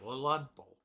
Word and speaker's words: Lilienthal: That's how it's pronounced. Lilienthal.